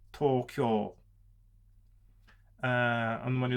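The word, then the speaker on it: 東京: You don't have word stress contrast in Japanese, so when you speak Japanese, you try to put equal stress on every single syllable. So it's not Tokyo, for instance. It's not Tokyo, it's Tokyo.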